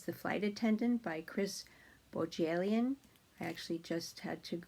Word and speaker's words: Bohjalian: So the J is not silent, it's Bohjalian.